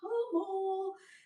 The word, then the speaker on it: Hummel: Okay, Hummel. Rebecca Hummel, and it's fitting because you're oh so humble, so it rhymes.